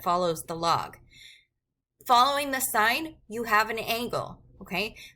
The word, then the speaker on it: sine: Sine of theta is typically abbreviated just as SIN. It is pronounced sine, not sin. Do not say sin. It is a sin to say sin. You say sine.